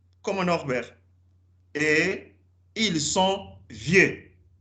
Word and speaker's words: vieux: Et ils sont vieux. E es de pronom tonique. Vimos ayer. X on ne prononce pas. E ou phonétique es E.